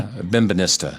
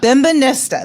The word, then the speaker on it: Bembynista: Bembynista. Did I say it right? Say it for me. Bembynista. Bembynista.